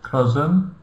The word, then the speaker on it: cousin: S we pronounce like Z, cousin, and we don't pronounce I.